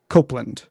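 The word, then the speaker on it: Copland: top chat on youtube he says kopland can be pronounced as if with an e as in the apple company project copeland well that's very interesting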